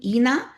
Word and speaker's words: Inna: And the spelling of her name, even though I'm pronouncing it like it's an E, it's a INNA, right?